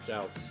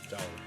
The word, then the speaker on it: Zhao: Chinese pronunciation, not Zhao. Zhao. Also, speaking of VAs, Zhao ZA also killing it.